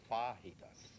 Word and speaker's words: fajitas: It's pronounced fajitas.